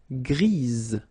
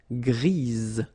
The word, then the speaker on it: grise: for the feminine form, grise. Remember? Grise. Alright? So when you add this E, basically it gives you the pronunciation or the possibility to pronounce the previous letter here. It's Z, grise.